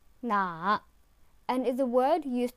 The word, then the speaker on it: 哪: It is pronounced with the third tone 哪 and is a word used to specify a question about who, what, and where.